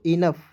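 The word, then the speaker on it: enough: एच क्या पढ़ेंगे दोस्तों इनफ ई एन ओ यू जी एच पढ़ेंगे दोस्तों इनफ पढ़ा जाएगा ठीक है ना ओ यू जीएस को नफ पढ़ा जाता है दोस्तों ई एन को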